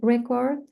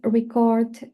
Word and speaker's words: record: If we say record, it's a verb. Um to record audio or video, same totally meaning or different meaning. And the only thing that change is the stress.